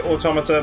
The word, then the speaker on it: Automata: I'm gonna say Automata because Yeah. they're like automatons.